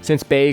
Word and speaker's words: Bee: So it's spelled, if you were to Romanize it, is B-E-E. But you would pronounce that Bay.